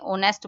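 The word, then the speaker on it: honest: ऑनेस्ट आपको पता है एच साइलेंट है हम इसे नेस्ट नहीं बोलते ऑनेस्ट बोलते हैं तो मतलब ओ है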